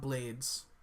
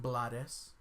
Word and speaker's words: Blades: Danny Glover, Bill Paxton, Ruben Blades, not Blades, it's actually pronounced Blades.